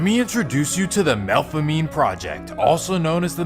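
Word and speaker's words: Melpomene: First, let me introduce you to the Malfamine project, also known as the MEL. Now, technically, it should be pronounced Mel Pominy, but it's New Orleans.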